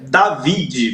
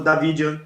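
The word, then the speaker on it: Davide: Como é que é a pronúncia correta? Você que fala italiano, Mateus Medeiros. Aí é David mesmo. É David Anelot. David. OK. Conhecido como tem até tem até o e no final ali.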